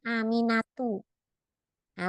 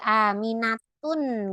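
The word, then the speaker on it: آمنةُ: gak boleh ditanwin jadi tidak boleh aminatun gitu enggak boleh yang benar adalah aminatu maryamu tidak maryamun beda ya kalau nama laki-laki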